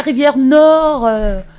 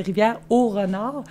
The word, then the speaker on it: Rivière-au-Renard: elle est où la rivière Nord? Ils entendent Rivière-Nord, mais c'est Rivière-au-Renard. Fait que sur notre rousse, on l'a écrit comme les gens la prononcent, Rivière-Nord.